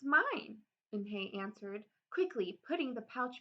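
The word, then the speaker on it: Unhei: it spelled U and H E I it's pronounced and hey oh it's you hey the boy said like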